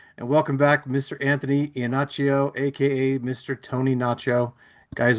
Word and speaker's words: Iannaccio: Iannaccio? Yeah, I'll give you that one. I'll give you that Okay. one. Tell me again how it's pronounced. No, it's pretty much perfect. I would say Iannaccio, but then Iannaccio.